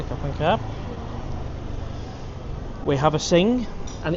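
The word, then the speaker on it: Singha: We have a sing, and it's in a condom. Keep it nice and cold. Yosh Travels, Thai say Singar, but yes, it's pronounced Sing.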